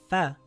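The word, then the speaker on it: فَ: With a fatha, it is pronounced as fa.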